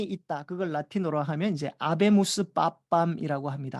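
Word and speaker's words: Habemus: 그걸 라틴어로 하면 이제 아베무스 빠밤이라고 합니다. 하베무스. H는 묵음이니까. 아베무스 빠밤이라고 하거든요. 우리에게는 교황이 있다.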